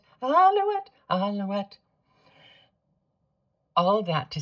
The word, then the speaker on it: alouette: My point being alouette has one L. So the L is pronounced.